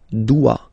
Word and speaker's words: dois: Okay, remember final S is not pronounced. Je dois. OE, when you combine the two, you get the sound wa wa wa.